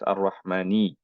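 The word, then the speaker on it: الرحمنِ: So obviously the first question, Ar-Rahmani. Okay, so this is Ar-Rahmani. Okay. So it's very easy. It's E sound at the end.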